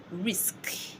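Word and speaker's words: risque: I won't bother to pronounce it. I'll just go ahead and pronounce risk. Okay? Risk. I won't pronounce the E.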